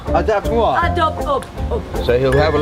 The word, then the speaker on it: Adopte-moi: Adopte-moi. Adopte-moi.